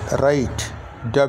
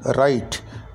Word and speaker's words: write: এখানে WRITE ডাব্লিউ এর উচ্চারণ করতে তোমাদেরকে নিষেধ করেছি, তাহলে ডাব্লিউ এর উচ্চারণ করবে না, তাহলে এটার উচ্চারণ হবে রাইট, WRITE রাইট, ডাব্লিউর উচ্চারণ হবে না।